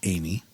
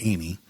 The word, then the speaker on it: Ami: The jukebox named Amy, pronounced Amy, because it's AMI, but it's pronounced Amy.